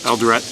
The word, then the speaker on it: Eldoret: Eldoret.